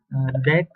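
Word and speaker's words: deque: give you a definition Dex or double ended cues pronounced like deck are sequences containers with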